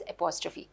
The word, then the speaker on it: apostrophe: किया है, सॉरी मैंने apostrophe अगर कहा, इट्स apostrophe, क्योंकि बोलते वक्त निकल जाता है मुंह से, इसलिए मैंने कहा मैं करेक्ट प्रोनाउंसिएशन बता दूँ आपको, इट्स apostrophe।